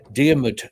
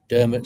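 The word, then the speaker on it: Diarmuid: guy in Irish myth deud son of divy dermit son of divy English pronunciation now he's a friend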